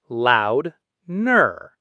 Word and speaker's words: Lautner: Tay, lur, loud, ner. Taylor Lautner. And fun fact, Taylor shocked fans by revealing that his family actually pronounces it like Loudner with a D sound, but he let Hollywood say Lautner for decades without ever correcting them.